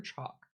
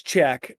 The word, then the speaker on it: Chak: if Chalk, is it pronounced Chack or Chalk? It's Czech.